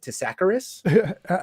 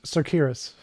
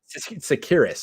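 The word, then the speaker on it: Tsakiris: Is it Tissacharis? Yeah, Alex Sarkiris. Sakiris.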